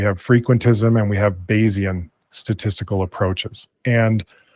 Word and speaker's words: Bayesian: How does the Bayesian statistics influences your process, and what are its main benefits? I don't know if I say it correctly. Bayesian. Yeah, no, that's perfect.